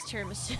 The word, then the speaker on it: Tiramisu: It kind of rhymes with Mogadishu.